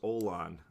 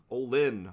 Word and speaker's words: Olin: figured oh it's olin i keep mispronouncing olin as olan olin olin listen mr olin